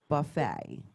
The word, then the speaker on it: Buffett: you can use Parret Buffet. It is for Jimmy Buffett, but it is pronounced buffet, according to Bill Curry.